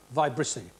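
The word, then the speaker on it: vibrissae: for a cat's viy spelled v i b r i s AE pronounced vicy whiskers yes cat whiskers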